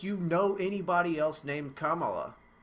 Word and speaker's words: Kamala: yeah i mean like kamala just seems like the natural pronunciation but apparently it's not you know and that's fine so it's kamala it's not it's not